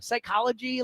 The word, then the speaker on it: psychology: I don't know how I learned like silent peas. Like what what are we doing there? Psychology. Like that kind of work. Like why? Like how are you supposed to teach a kid like all right because we teach like spell it out right ss what I I you know how are you supposed to say no actually there's a p on the front of that like just you know